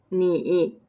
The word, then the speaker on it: 你: The first one 你 pronounced like the third tones 你 means you.